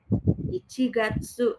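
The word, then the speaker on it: 一月: Kalau satu buah hitotsu, kalau bulan Januari pakainya gatsu. Ichigatsu.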